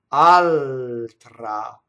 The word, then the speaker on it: altra: Altra. Notice the L doubles, touches a T.